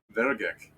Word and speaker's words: Vairgek: There's an I in there and you don't say it at all? Vairgek.